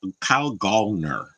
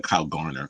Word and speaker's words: Kyle Gallner: I'm like, Kyle Gallner is how you say it. I always say Kyle Garner.